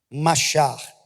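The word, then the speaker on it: משח: A palavra unção, no nosso português, ela é a tradução de uma palavra hebraica que nós pronunciamos assim, machar.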